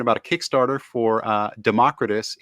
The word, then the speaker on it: Democritus: a Kickstarter for uh Democritus it's not Democrat it's Democritus brand chapters three and four